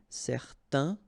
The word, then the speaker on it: certain: Okay, so it's nasal in your nose, un. Okay, if you add this at the end, then it will change the thing, and then you will pronounce it n. Okay, so the masculine form, certain, the feminine form, certaine. All right, so let's see them one more time.